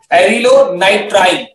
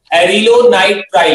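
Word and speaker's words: acrylonitrile: ठीक है, इसे हम क्या बोलते हैं बेटा, एरिलोनाइट्राइन, सो the spelling is ए सी आर वाई एलओ एन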